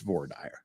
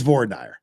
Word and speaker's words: voir dire: It's voir dire. It's voir dire. That's just how you pronounce it.